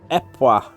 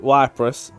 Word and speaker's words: Ypres: Apparently, it's more accurately Epois in Belgian French. So I called it Cyprus. Apparently, you call it Epois.